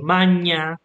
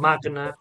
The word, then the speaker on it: magna: you would say pway or you would say Mana instead of Magna it would sound more like Italian okay in ecclesiastical pronunciation but